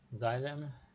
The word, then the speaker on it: xylem: So the xylem xylem is spelled with the first Z, but it's written with the first X. So it's written xylem, but the uh, it you should pronounce it like xylem.